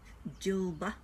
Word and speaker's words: Djilba: And then we've got, I'm going to spell it, DJILBA. So it'd be Jilba.